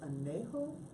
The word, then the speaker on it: añejo: And there is a third one that I don't have that they have that's añejo. Is that how you pronounce it? Yeah. Añejo? Anejo, yeah.